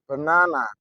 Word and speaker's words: banana: berbeda berbedanya Bagaimana ya kalau dituliskan banana kalau diucapkan benana benana benana benana jadi b-nya ini bersuara o bo bukan ba benana benana benana padahal tulisannya